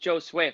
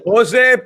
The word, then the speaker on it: Josue: we have to say it is pronounced joe sway for everyone in the comments who is saying we're pronouncing it wrong correct that's true that's true thank you yeah jose josue